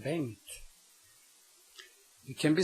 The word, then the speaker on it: Bengt: Now comes the sound ng, which you have in my name, Bengt.